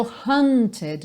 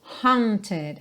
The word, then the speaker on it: haunted: que não é o hunted não é aquele som a do caçado Ok esse Assombrado por alguma coisa é o Haunted é um som um pouquinho diferente mais mais nasal mais h h Ok Haunted só que esse